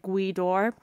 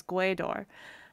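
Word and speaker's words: Gaoth Dobhair: how to spell it i thought that like g-w-e-e like how it was finished phonetically pronounced in english and i remember thinking oh god i have to remember that's a place and spelt like how i would pronounce it as gwedor and i remember just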